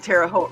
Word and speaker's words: Terre Haute: I have contacts in Terre Haute, rhymes with boat.